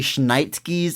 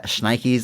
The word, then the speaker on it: schnikes: called called The Holy schnit edition of the movie cuz it had like 20 extra seconds uh schnikes I'm sorry did I mispronounce my catchphrase put a t in there sorry um schnit schnikes